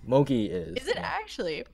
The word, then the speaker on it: mochi: fix it smoky lounge guys not emoji alone emoji is like a type of food I think mochi mochi mochi how do you spell it emoji isn't it Oh like oh no mochi that's like mo Chirs yeah and that's like that like that's food not mochi mochi you know it's